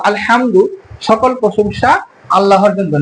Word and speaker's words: আলহামদু: আলহামদু এটা বড় হা। এটা হল শেষ পর্যন্ত উচ্চারণ করতে হবে।